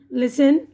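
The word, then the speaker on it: listen: तो आप लोग ध्यान दे लेंगे हैसेन, लेसन, ऑफेन, सॉफेन, ठीक है। अब यहाँ पे एन की आवाज़ साइलेंट है।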